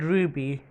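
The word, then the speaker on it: RWBY: just like wings club the title is spelled r WBY Y which is a clever way to write the word Ruby kind of like how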